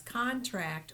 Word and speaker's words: contract: this first word c c-o-n-t-r-a-c-t whether you pronounce it as contract or contract depends on whether it's being used as a noun or a verb in a sentence so